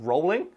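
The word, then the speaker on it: Rowling: if you're max commotion actually it's pronounced rolling its ones like you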